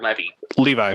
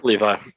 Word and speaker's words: Levi: So you have him, you have it's Devin, is it Levi or Levy? Levi. Yeah, I figured. To be fair, hold up. Ukko-Pekka Luukkonen, however you pronounce it.